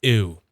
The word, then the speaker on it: Ooo: It's definitely pronounced ooh.